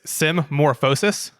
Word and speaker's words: symmorphosis: and so the paper the way that you pronounce the first word is it's symmorphosis symmorphosis i didn't think you were gonna pump